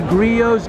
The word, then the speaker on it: Griot's: I'm at the Griot's garage, and correct me, but is the correct way to say it?